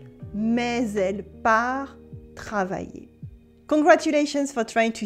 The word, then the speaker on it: travailler: La fille a sommeil, mais elle part travailler. Here we have a y sound at the end of sommeil for sleep and in the middle of travailler to work.